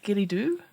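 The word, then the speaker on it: Ghillie Dhu: a strange Moss fairy is that how you pronounce that a gilly dooo Gilly dooo yeah that's how it's pronounced a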